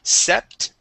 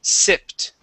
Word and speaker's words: sipped: Uh, here you had used a short e sound instead of short i. Instead of sept, it is sipped.